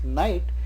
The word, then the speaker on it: knight: brave soldier called a knight. But the K here is silent, it is spoken as knight, so starts with na, so we use a before a knight.